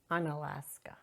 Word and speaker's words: Unalaska: How do you pronounce it? Unalaska.